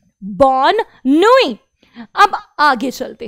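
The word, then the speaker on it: bonne nuit: अभी आपको ये याद रखना है कि एंड में कॉन्सोनेंट को प्रोनाउंस नहीं करना है, इसलिए हो गया बॉसुआ बॉसुआरे बॉसुआरे, और गुड नाइट बॉनोई बॉनोई।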